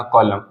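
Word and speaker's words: column: जाएंगे वो देखिए एग्जांपल एम के बाद एन वाला कांसेप्ट पढ़ना है इसके एग्जांपल हो जाएंगे हमारे जैसे मैंने कहा कॉलम सी ओ एल यू एम एन कॉलम पढ़ेंगे इसको कॉलम कॉलम का मतलब होता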